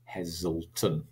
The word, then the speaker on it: Heselton: the letter and then I spell it Heselton. But when I say it, I don't say Heselton. I say Heselton. So it's a Z. It's a Z. Heselton.